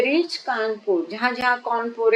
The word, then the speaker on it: Kanpur: अब हर जगह ये कौन पोरे है कौन पोरे मुझे उसका सही प्रोनाउंसिएशन मालूम नहीं लेकिन अब मैंने इसको गूगल से भी आज ढूंढ लिया है। यह कानपुर ही है।